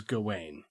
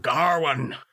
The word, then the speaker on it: Gawain: But in the movie, everybody calls him Garwin. Yeah, they kind of pronounce it with almost like with an R. Come take your seat next to me, Garwin. Garwin. There's no R in it.